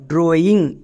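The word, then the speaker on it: drawing: চলো প্রথমে উচ্চারণ করো। DR এর জন্য ড্রো, AW vowel blending word, এর জন্য সাউন্ড হবে ও, ড্রো প্লাস ও ড্রোই হয়ে যাবে, এখানে কোনো চেঞ্জ করতে হবে না। নেক্সট ING এর জন্য উচ্চারণ করবা ইং, তাহলে আমাদের উচ্চারণটা কি দাঁড়ালো ড্রয়িং।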